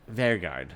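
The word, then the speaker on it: Vegard: Vergard.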